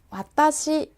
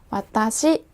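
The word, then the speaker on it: 私: 나타내는 1 인칭 대명사 부터 알아보도록 할게요 나는 맛다시 라고 발음 하는데요 한번 따라해 볼까요 맡아 씩 4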